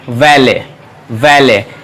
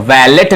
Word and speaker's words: valet: किया जाता है, और इसका सही उच्चारण है वैले, वैले। T साइलेंट है तो वैलेट नहीं है या वॉलेट नहीं है, वैले, वैले। तो इसे हम लोग पढ़ेंगे वैले।